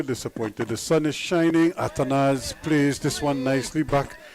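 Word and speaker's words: Athanaze: Here's Ashwin again, bowling to Atanaz, coming down, and Atanaz, as he's more corrected pronunciation of his name.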